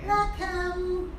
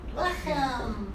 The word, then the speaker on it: lechem: Lechem, lechem. Lechem. What's lechem? Lechem minoretz. Lechem. Bread. Oh, Bread. Lechem is bread. That's two Uh-huh. syllables bread. then? Lechem.